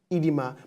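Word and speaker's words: oedema: our word for today is edema now it's pronounced as edema but sparked with o e d e m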